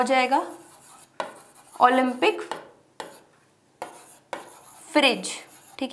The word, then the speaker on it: Phryge: क्या हो जाएगा, ओलंपिक फ्रिज। ठीक है, वो वाला फ्रिज नहीं है, रेफ्रिजरेटर वाला, स्पेलिंग देख लो फ्रिज की, PHRYGE।